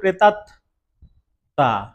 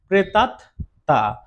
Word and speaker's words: প্রেতাত্মা: উচ্চারণটা কি হবে বললাম প্রেতাত তা এখানে আর ম ফলা যেহেতু উচ্চারণ হলো না ম ফলাও নাসিক্য তার জন্য এখানে কি হবে অনুনাসিক হবে উচ্চারণটা ম উচ্চারণ না হলে অনুনাসিক হবে এই যে চন্দ্রবিন্দু বসবে